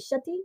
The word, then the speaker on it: Shetty: say with an S or Shetty is it Shetty yeah shett shett shett I want to make